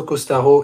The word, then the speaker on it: Costaros: très bien c'est haut ça s'écrit comme à l'espagnol mais ça se dit à la française c'est os t a r os sur Google Maps alors entre Costaros et la fraise il